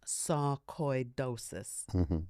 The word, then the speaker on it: sarcoidosis: And it came back positive for um sarcidosis, pronounced sarcoidosis, not psych because it's not madness, it's sarcidosis. Now, I'd never heard of this.